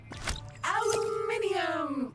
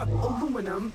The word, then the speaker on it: aluminium: Aluminium! Or aluminum, as Americans pronounce it incorrectly.